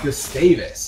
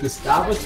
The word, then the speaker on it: Gustavus: A 3 for 2 in favor of Gustavus. I keep looking at the name and it's just, I want to pronounce it Gustavus, but it's Gustavus.